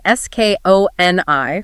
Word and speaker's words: Skoni: That's spelled S-K-O-N-I, pronounced Skoni.